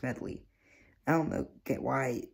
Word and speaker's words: Medley: the app name wrong it's not modify its medley I don't know get